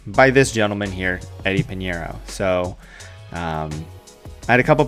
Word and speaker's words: Pineiro: because it's Eddie Money Eddie dinero rhymes with Panero so what I did